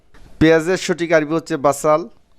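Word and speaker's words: بصل: পেঁয়াজকে বাসাল, পেঁয়াজের সঠিক আরবি হচ্ছে বাসাল। তো আবার সৌদি আরবে বলে থাকে বসাল বা বসল, বসল বা বাসাল। উচ্চারণ এক এক ডিস্ট্রিক্ট থেকে অন্য ডিস্ট্রিক্টে একটু পার্থক্য হতে পারে, আবার মুখের ভাষার উচ্চারণ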